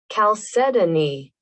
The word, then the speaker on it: chalcedony: took a little break let's see how it's pronounced that's exactly how i said it chalcedony calcetini calcetini hmm i am sure we looked